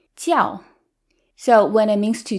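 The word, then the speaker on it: 教: first tone which is tiao it's higher pitched tiao versus when it means religion it's the fourth tone it sounds more Angry ciao so when it means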